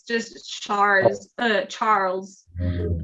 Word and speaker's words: Charles: it's just stars uh charles it's just you don't pronounce the uh the e so yeah okay awesome